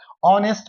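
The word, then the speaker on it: honest: जैसे गुड ग का साउंड है ए आएगा। ऑनेस्ट अ का साउंड है एन आएगा।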